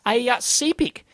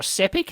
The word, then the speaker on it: SEPIC: But it's a CPIC converter, or SEPIC, however you want to pronounce I it. say SEPIC usually, yeah.